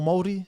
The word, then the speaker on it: Māori: Maori or Māori.